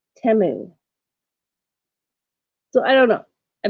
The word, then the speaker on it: Temu: do you say it I've been saying it t but on their commercials they see they say temu so I don't know